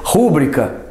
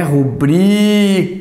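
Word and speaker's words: rubrica: né Realmente problemas tá por exemplo rúbrica rúbrica ó vou colocar aqui do ladinho ó rúbrica Então essa é a vogal tônica opa opa opa O que que a tia Norminha diz a respeito desta pronúncia que é rubria a forma correta de acordo com a norma culta é o i então Claro aí a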